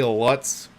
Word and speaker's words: Lutz: fun name that is Lutz hey Lutz rhymes with putts where is he he